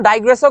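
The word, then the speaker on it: digress: ওখানে যাওয়া যাবে না ওইটা হচ্ছে ডিগ্রেস ঠিক আছে অনেকে এটাকে উচ্চারণ ডাইগ্রেসও করে একই কথা এটার অর্থ বিচ্যুত হওয়া যারা যারা যারা সি উত্তর দিছো তোমাদের সবার উত্তর সঠিক।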